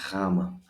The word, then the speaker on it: gamma: in any Latin alphabet, though the pronunciation is not so challenging because it really sounds like a Y in year. If I smile, if I force a little bit of smile, year, my pronunciation is even better, even easier and clearer to Greek ears.